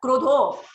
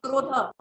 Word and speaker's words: krodha: You said kamak, krodha, krodho, but in my book it is written krodha. There is no oki matra.